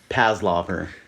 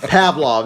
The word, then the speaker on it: Pavlov: know the classical conditioning i don't think that's how you pronounce it what is that pavlov what how do you say that actually what are you talking about pavlov there you go you got a pavlov